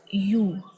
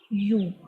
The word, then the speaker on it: ю: Next letter is U, U. The sound is similar like in English word universe, U.